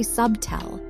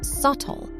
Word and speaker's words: subtle: Don't say sub-tell, it is subtle.